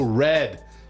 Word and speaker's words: read: uh wait hold on that's how the receipts are pronounced pronounced as in the color Clifford the big oh red thank you red receipts as in you